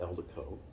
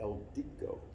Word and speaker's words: Eldico: Eldico, I will say this, I pronounce it Eldico. If you go to California and you talk to the people in California, they call it the Eldico. It has a Hispanic twist to it.